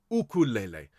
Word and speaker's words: ukulele: UK it's the UK because the Hawaiian people pronounce this ukulele and for those of